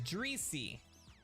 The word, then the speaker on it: Dreesy: Dree is pronounced Dree, so it's Dreesy.